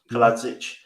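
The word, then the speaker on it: Kalajdžić: Kaladzic.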